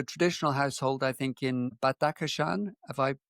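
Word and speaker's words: Badakhshan: born into a traditional household I think in Batakashan if I pronounced that correctly. Yes, absolutely. Bad Aan is the correct pronunciation.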